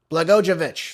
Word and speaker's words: Blagojevich: I I hate that I say his name wrong. So, let me look at it again. Blagojevich.